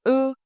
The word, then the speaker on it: ư: Now you can confidently pronounce the difference between u and ư. Remember three key things. First, u is made with round lips, like saying u. Second, ư is made with flat lips, almost closed.